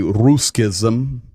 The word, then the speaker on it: Ruscism: I would say Ruscism.